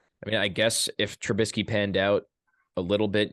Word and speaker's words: Trubisky: So he said Trubisky.